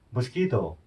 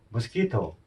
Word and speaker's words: mosquito: 모스키토. 다시 해볼게요. 모스키토. 예. 이 발음이 중요하더라고요.